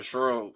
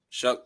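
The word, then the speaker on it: Tyler Shough: I mean, you do got Tyler Shrug or however you say his name. Shuck. Shuck. Yeah, you do got Tyler Shook.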